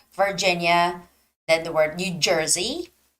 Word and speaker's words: Virginia: reading the word Virginia the stress goes on the second eye Virginia okay so reading English